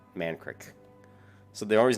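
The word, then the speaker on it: Mankrik: Creek ma NK Rik I would pronounce that man Creek so they're always not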